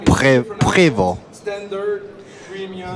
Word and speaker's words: Prevost: That's the real correct way to pronounce it. Prevost.